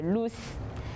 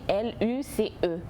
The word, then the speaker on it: Luce: fille au nom de Luce. Bon, je le dis en français parce que ça s'écrit L-U-C-E. Je ne sais pas, peut-être d'autres diront en allemand Luce, c'est comme vous voulez, mais je n'ai pas